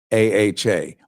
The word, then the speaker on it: AHA: Seriously, it's called AHA, A-H-A, or the Administration for Healthy America. AHA. That's how they're pronouncing it. That's how he's pronouncing it.